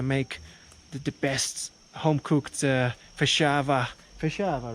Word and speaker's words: Feijoada: First, I should learn how to pronounce the name of the dish. Yes. Feijoada.